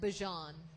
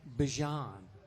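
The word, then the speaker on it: Bijan: of us said, but she said it is pronounced Bjon. Bjon. But that just sounds too weird. So, we're going to say Bejon.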